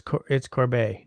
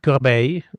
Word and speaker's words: Corbeil: It's got to be pronounced with the roll of the tongue, right? Well, it's just that like it's Corbeil. Well, I mean it's Corbeil, but I mean in